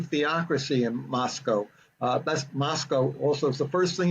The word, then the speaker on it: Moscow: in Moscow uh that's Moscow also is the first thing you learn when you go get out there the town is pronounced to rhyme with Costco they don't want it